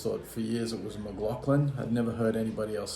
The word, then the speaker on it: McLaughlin: I always said John McLaughlin all my life, but I actually think that the way to pronounce his name is McLaughlin, so I'm trying to get used to saying it that way.